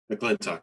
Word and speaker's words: McClintock: I pronounced McClintock right, correct? McClintock, yeah, you got Okay, it.